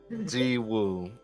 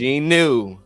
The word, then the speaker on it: Jinwoo: wrong way cuz you're butchering my name bro G woo you know what I'm gon every time I